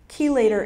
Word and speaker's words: chelator: Chelator is spelled C-H-E-L-A-T-O-R, chelator.